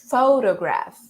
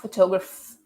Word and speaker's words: photograph: Photograph. Right? It's not photograph. It's not photograph. It's not photograph, but it's photograph. Photograph. Photograph. All right? So the stress syllable is the pho, all right?